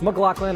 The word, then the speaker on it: McLaughlin: supercar champ scott mclaughlin yes it's mclaughlin i'm sure that's how you say it no it doesn't make sense but neither does english so just go with it dale earnhardt jr whose